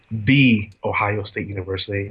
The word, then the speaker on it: The Ohio State University: He actually went to the Ohio State University, as I've been told that's the proper pronunciation.